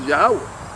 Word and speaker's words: Yahawah: the Most High as Yahawah. Right. As a matter of fact, I'm saying it the right way, but the way it's here is pronounced YAHWAH.